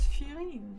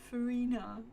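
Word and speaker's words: Furina: Here I thought it was Furine, but no, Farina. See, it's with an English accent in this case.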